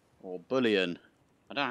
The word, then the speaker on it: Bullion: hello everyone welcome to boolean or bullion i don't know how you say it i think it's bullion like you know a bull like a cow yeah um this is